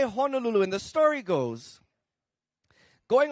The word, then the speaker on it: Honolulu: all say h Hulu by the way the proper pronunciation is Honolulu so let's all try Honolulu Honolulu I'm talk yeah yeah